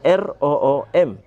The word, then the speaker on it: room: Berbeda dengan misalnya ruangan dalam bahasa Inggris, tulisannya R-O-O-M, tapi bacanya room. Orang kalau tidak belajar, maka dia tidak bisa membaca room, akan dia baca rom, gitu ya.